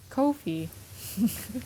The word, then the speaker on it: Ko-fi: talking about this site not like literal coffee yeah yeah so I that's why I'm like okay I'll just Kofi Kofi wiy like WiFi Wei wey wey is how